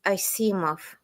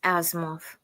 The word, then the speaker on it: Asimov: It's Asimov, not Asimov.